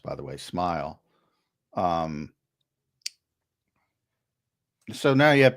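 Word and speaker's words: Smael: Or now you have another guy, Smile Munden, and that's how it's pronounced, by the way, Smile.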